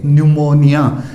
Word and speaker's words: pneumonia: एन और एस से पहले पी हो तो पी साइलेंट होता है। फॉर एग्जाम्पल PNEUMONIA, न्यूमोनिया, यानी एन से पहले पी है तो यहाँ अपना पी साइलेंट है, पी की साउंड नहीं बोलना है इस वर्ड में।